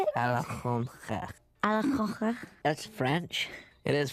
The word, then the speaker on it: Alexandre: Alexandre.